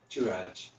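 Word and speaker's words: Touraj: Like tour. Turaj.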